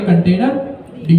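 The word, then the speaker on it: containerd: इसको हम कहेंगे कंटेनर डी। इसकी प्रोनाउंसिएशन क्या है? कंटेनर डी।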